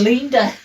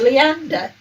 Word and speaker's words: Leander: did you pronounce that he said it was linda so i had to spell it out in the proper pronunciation mode which is leander so i went like a boy's name l double e dash and then the ander part at the end a funny way to